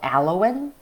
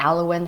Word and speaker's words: aloin: a substance from aloe vera leaves it's called alawin okay it's spelled as a-l-o-i-n Halloween okay so aloin is